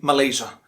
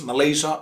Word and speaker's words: Malaysia: Next one in the list is another Asian country, Malaysia. And this one too is pronounced in two different ways, Malaysia or Malaysia. Malaysia or Malaysia, not Malaysia.